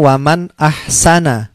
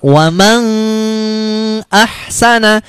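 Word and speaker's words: وَمَنْ أَحْسَنُ: dengan Hamzah Hai dibaca waman ahsanu nah ini seperti ini Hai bacanya begini waman ahsanu waman ahsanu tidak boleh dibaca dengung atau samar-samar wewenang ah sana itu salah Tapi bacanya woman ahsana seperti itu kemudian contoh lagi Non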